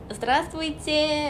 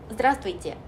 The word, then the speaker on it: здравствуйте: 그래서 안녕하세요 이때 이 발음처럼 zdravствуйте 라고 맨날 인사를 했더니 나중에 학교에서 친구들이랑 교수님들 맨날 저만 보면 zdravствуйте 이러면서 놀리시더라고요. 근데 어쨌든 굳이 상냥하게 하지 마시고 약간 원어민하고 가장 가깝게 발음을 하고 싶다 하면은 조금 차갑게 здравствуйте 라고 한번 찍어주시고 하면 돼요.